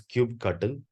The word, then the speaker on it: kubectl: Coming to the next question, what is kubectl? Or it can also be pronounced as kubectl.